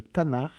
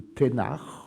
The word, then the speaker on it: Tanakh: Il faut demander ce qu'on appelle le Tanakh, ou Ténach, selon la prononciation.